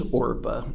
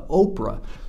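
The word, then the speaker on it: Orpah: our famous Oprah's real name is orpa and on her birth certificate it says orpa but at some point in time and maybe just because they didn't like the sound of orpa or somebody mispronounced her name and it stuck she became uh Oprah so anyway there's two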